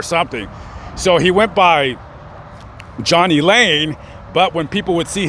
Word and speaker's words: Jani Lane: Way of how how you say it or pronounce it or something so he went by Johnny Lane but when people would see his name and how it's spelled they called him Janie Janie Lane so it's stuck so there you go there's